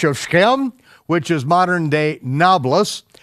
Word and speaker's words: Nablus: Abraham passed through the unto the place of Shechem, which is modern-day Nablus. Why it's called Nablus is because the Arabs can't pronounce a P.